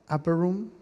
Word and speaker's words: Upper Room: El pastor Danilo me habló acerca de Upper Room, así se pronuncia, Upper Room.